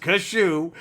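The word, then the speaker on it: Kasshu: Gundam fight and neo-japan's domon Domo now it's pronounced kashu is on the hunt for the devil Gundam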